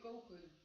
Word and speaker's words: keuken: You could also think that you pronounce it like koken. Cocaine. But you say koken. So it always goes down. You nearly don't pronounce the E.